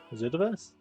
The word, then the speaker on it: Zerdaverse: That's game 2 to Zerdaverse. Zerdaverse. That's it. Yeah. It's game 3 to come. We're also complaining how mean. Yeah, Zerdaverse, exactly. I've been calling him Zerdaverse